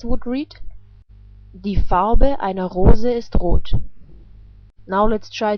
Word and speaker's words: Rose: The color of a rose is red. The word for rose is the same in German, but is just pronounced differently. In German we pronounce it like Rose, and Rose is a female noun in German.